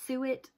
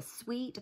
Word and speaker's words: suet: people have pronounced this suet because i always want to say it's a sweet but it's not spelled sweet um now i believe